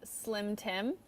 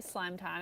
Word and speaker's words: Slime Time: do every week uh slim Tim if you're pronouncing it correctly slime time if you're pronouncing it incorrectly because the E are silent this one yes this